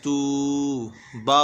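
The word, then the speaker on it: توبوا: ता वाव पेश तू, बा वाव पेश बू, ध्यान रखें यहाँ पे ता वाव पेश तू है, यहाँ बा वाव पेश बू है, ये अलिफ खाली है, इस अलिफ का कोई काम नहीं है, ये अलिफ खाली है, हिज्जे में भी नहीं पढ़ा जाएगा, रवा में भी नहीं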